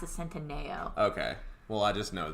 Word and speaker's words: Centineo: The end part, I know it's Centineo is how it's spelled, but I think that you pronounce it Centineo.